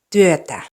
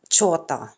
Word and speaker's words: työtä: T-I and T-Y combinations are not pronounced as CH. So it's työtä, not chota.